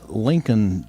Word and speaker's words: Lincolnton: Lincolnon. Lincolnington. Lincoln Ton has a T in it, but it's it's pronounced Lincoln L.